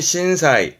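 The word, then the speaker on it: 震災: 신도 진원지가 되겠네요 신지 치 진 제자입니다 그래서 발음이 신사이 신사이 신 사이는 뭐냐면 지진 제해 발음은 지신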